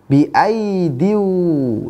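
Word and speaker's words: بأييد: Jadi ya-nya yang dibaca ya yang pertama, ataupun ya yang kedua tidak dibaca. Biaidiu, ya, jadi bukan bacanya biaidiu, ya, karena ya-nya yang dibaca hanya ya yang pertama, ya yang kedua tidak dibaca, maka tidak panjang bacanya. Biaidiu, biaidiu wa inna lamusi'un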